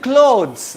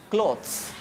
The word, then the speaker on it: clothes: that pays respect now moving to clothes it's not cloth clothes many people speak earth i would say clothes clothes jewelry it's not